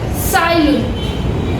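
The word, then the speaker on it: Tsai Lun: સાયલુન, TSAI. Over here T is silent. Sailun.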